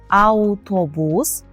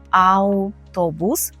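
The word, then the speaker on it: autobus: перше слово - це аутобус і в цьому слові буду звертати вам увагу на перші дві букви Ау мовіми аутобус Це не український автобус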